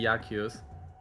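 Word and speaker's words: Jakus: So, yeah, it's actually but the meme will be dead if I say it, but it's actually Yakus. So, you know, because in Polish is like it's pronounced like Yakus, right?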